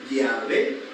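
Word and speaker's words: Yahweh: Dios por esta razón comprendemos que el nombre de Dios es llave y no Jehová sea ya veo Jehová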